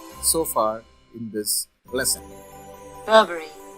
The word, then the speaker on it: Burberry: r b e double r y the correct pronunciation is burberry the next in the list is p-r-u-d-n-t-i-a-l the